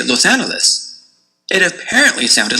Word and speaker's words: Los Angeles: Should you say a hard G or a soft G? Los Angeles or Los Angeles? Should you end with a les or a lus? Los Angeles? Los Angeles?